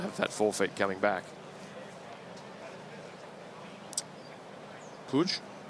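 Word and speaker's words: Puig: Many different ways to pronounce that for those with that surname. Monica Pigs tennis for ESPN pronounces her name that way. And here we have Mr. Puj. Does it matter where in Spain you're from? Well, if you're from Catalunia, if you're from the Basque country, there's many different places that you could pronounce it differently as well.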